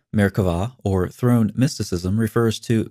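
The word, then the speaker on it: Merkavah: maricava mysticism frequently spilled with a bee but pronounced with a V merkava or Throne mysticism refers to Mystical ascents theoretically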